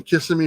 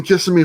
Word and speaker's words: Kissimmee: i pronounced it right i've been told i pronounced it wrong i don't know it doesn't matter just it sounds like kissing me so i'm just gonna say it but it's in kissimmee florida and uh i'm